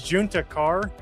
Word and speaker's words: Juntakharr: But it was Junta Kar, which was a Star Wars name, and you kept pronouncing it Hispanic because of Texas.